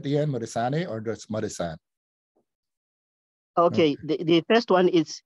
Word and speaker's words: Modisane: Do you pronounce it A at the end, Modisane, or just Modisane? Okay, the first one is pronounced D.